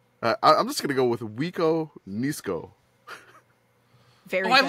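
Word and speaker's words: Wiconisco: Give me Wiko Nisko.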